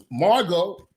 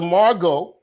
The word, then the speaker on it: Margot: Queen sister queen queen Margo Margaret is it Margot I put Margot oh it's like escargon you don't say escargot you say escargos so the t is silent oh okay sister Margot all right um fresh